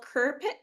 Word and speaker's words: Kirkpick: It's not looking good for I believe she makes the uh the agreement with Admiral Kerik or how do you pronounce her name? Yeah, Kerpik.